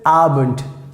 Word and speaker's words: Abend: very useful like guten abend guten arbent guten arbent uh sometimes like most of times we pronounce like t this d if it comes in the end so we pronounce like t guten arbent guten arbent